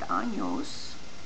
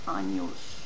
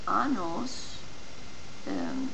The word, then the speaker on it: años: And remember, when you say the word años, it's very important to pronounce the ñ, the ny sound, años.